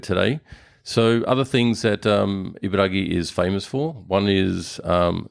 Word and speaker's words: Ibaraki: I mean, it's spelt with a K, but It's spelled with a K, pronounced with a G.